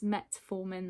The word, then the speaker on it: metformin: When I came back to edit the video, I realised that I've completely been mispronouncing the medication all the way through. It's metformin that I'm on, and yeah, I didn't realise